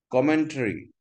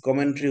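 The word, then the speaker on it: commentary: কমেন্ট্রি অর্থ ভাষ্য, টারি উচ্চারণ হয় না, দিস ইজ কমেন্ট্রি উচ্চারণ হয়, কমেন্ট্রি।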